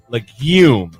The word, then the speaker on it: legume: Legume, not lagoon.